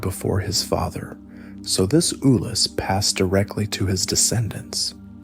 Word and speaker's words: Ulus: had conquered into independent, hereditary principalities, known as Ulus, pronounced Ulus, to be ruled by his remaining sons.